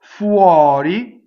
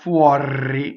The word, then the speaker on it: fuori: Fuori, open O, flipped R, right? Not fuori, no, fuori.